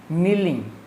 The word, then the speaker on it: kneeling: See the pronunciation, kneeling. K here silence, kneeling, resting on one's knee.